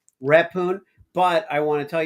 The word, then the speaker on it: Rephun: It's repoon which is not repoun. Repune.